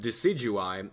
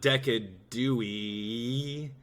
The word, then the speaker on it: Decidueye: all over the place the reason how I come up with deui is uh like a deciduous forest it's not decad Dewey one of the things